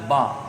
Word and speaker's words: ب: اور ایسے اس کے بعد جب آتی ہے بی تو وہ بی نہیں بلکہ ہوتا ہے با اس کا تلفظ۔ ایسے ہی عربی میں الف کا تلفظ